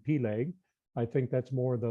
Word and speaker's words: Peleg: But also, his first name was either Peleg, as some pronounce it, or Peleg, as you hear it in some areas, or just different emphasis on the syllables in the way that it's pronounced. But for our purposes, I like to call him Peleg.